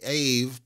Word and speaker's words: Aave: I'm your host, and yes, I pronounced it AVE, and I'm going to keep pronouncing it AVE. I'm not doing this Ave Maria nonsense.